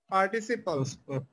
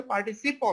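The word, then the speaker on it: participle: ফর্মের পরে পড়ছেন পাস্ট পার্টিসিপল। পড়ছেন না এরকম? পার্টিসিপল বানানটা দেখছেন? খবরদার পার্টিসিপল বানানে যেন পিএল এখানে যেন পিএল না হয়ে যায়, খবরদার, তাহলে কিন্তু ভুল হবে, এটার উচ্চারণ হচ্ছে পার্টিসিপল, নট পার্টিসিপাল।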